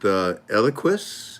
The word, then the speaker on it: Eliquis: Somebody is asking about what about interaction with Eliquis, if I'm pronouncing that right?